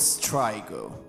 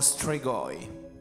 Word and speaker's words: StryGo: un sitio donde quedarse Nosotros nos llamamos StryGo! o Strigoi, como prefieras pronunciarlo En este mundo, la mezcla